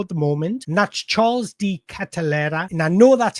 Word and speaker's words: Charles De Ketelaere: He's 24 at the moment, and that's Charles D. Catalera. And I know that's how you pronounce it because I went on Google Translate